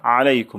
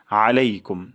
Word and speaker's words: আলাইকুম: শান্তি বর্ষিত হোক আলাইকুম আইন গলার মাঝখান থেকে উচ্চারণ করব আলাইকুম বলবো না আলাইকুম বলবো আলাইকুম আলাইকুম আপনাদের উপর আলাইকুম